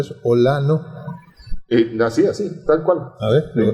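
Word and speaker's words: OĽaNO: ¿Cómo se pronuncia eso? Olano.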